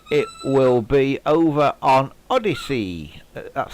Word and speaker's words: Odysee: I think that's the first one affected, and it will be over on Odyssey. That's spelled ODYSEE for those of you who aren't sure.